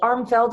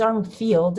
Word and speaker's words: Armfield: And I say Armfeld a lot, but it's Armfield. It's spelled like Armfield.